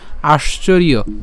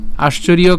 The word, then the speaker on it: আশ্চর্য: এই অন্তস্থজের উচ্চারণ কার মতো, ইয়র মতো। তাহলে সম্পূর্ণটি যদি আমরা একসাথে উচ্চারণ করি তাহলে উচ্চারণটা হবে কেমন, আশ্চর্য, আশ্চর্য।